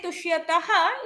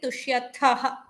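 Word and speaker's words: तुष्यथः: if you say tushyataha, it becomes the prathama purusha dvivachana. So ensure that you are pronouncing it tushyathaha.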